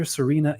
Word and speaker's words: Sørina: Sørina. Have I pronounced that correctly?